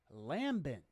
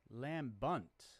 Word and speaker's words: lambent: Today's word is lambent. Lambent. Lambunt. Lambunt. Lambent. Lambent, lambunt. Lambunt. I'm looking at the pronunciation there. Lamb, hard lamb, bunt.